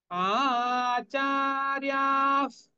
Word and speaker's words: आचार्याः: আচার্যাস, এখানে আমরা হাফ ফ উচ্চারণ করব।